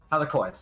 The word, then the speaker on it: Halichoeres: Halichoeres, that's how you say it.